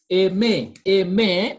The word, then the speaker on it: aimer: A may, because R is silent and is pronounced, because I told you when letter E is is followed by letter R or letter Z or letter T, it is pronounced.